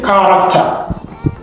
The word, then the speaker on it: character: This H is silent. Number 16, character.